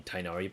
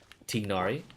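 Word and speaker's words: Tighnari: found his way into any Tainari posts, or Tignari if you want to say it correctly.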